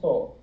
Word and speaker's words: so: So, and that is, since it's the only vowel in that syllable, it's so. It's open.